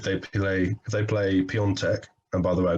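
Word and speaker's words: Piątek: think that if they play if they play peon tech and by the way i got my pronunciation spot on by the way if they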